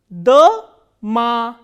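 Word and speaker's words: дама: Here, this O is unstressed, while this A is stressed. So, how will we pronounce this word? Da-ma, da-ma.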